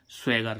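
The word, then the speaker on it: swagger: ऐसे ही हम इसमें देखें एस डब्ल्यू A double ji आर स्वैगर स्वैगर मी्स क्या होती है अकड़ ठीक है तो डबल जी डबल जी के इसका उच्चारण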